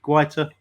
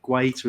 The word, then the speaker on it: Guaita: man of the match quiter or greater as part of to say i'll be different creature quieter i swear he pronounces it quieter himself i know i know